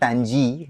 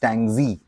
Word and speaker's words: Tang-zi: Today is Tang-zi. It's not Tang-ji, it's Tang-zi.